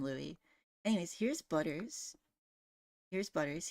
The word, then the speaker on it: Luis: Also, it's spelt Luis, but we call him Louis.